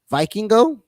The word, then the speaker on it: Vikingo: Kenny Omega is wrestling Vikingo. That's how you say his name. El Vikingo.